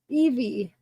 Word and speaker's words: Evie: Evie. Oh, it's just Evie? Wait. Oh, because you have the V at the end though.